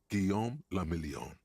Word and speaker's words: Guillaume le Million: Guillaume le Million. Guillaume del Million. If it doesn't rhyme, you're not pronouncing it right.